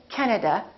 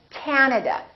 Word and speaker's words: Canada: and also 3 a's this time the first syllable is stressed this time this ad is really long so don't say Canada say Canada Canada so you need to